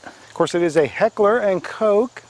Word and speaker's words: Heckler & Koch: course it is a heckler & koch that is how it's pronounced it is German which is European as